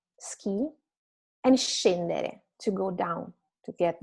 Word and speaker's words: scendere: have in English, is the sound of the SC combined with the vowel I or E. So it's she or she. It's not sk or sch, but sh. Like sciare, ski, and scendere, to go down, to get down, go downstairs.